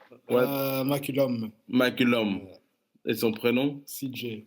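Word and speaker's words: McCollum: Bon, pour mieux prononcer, pour prononcer le vrai nom, c'est quoi, McCulloch? McCullum.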